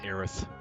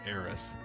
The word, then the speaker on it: Aerith: versus aerith debate um i always thought aerith sounded really weird like you're saying heiress but with a lisp aerith and i found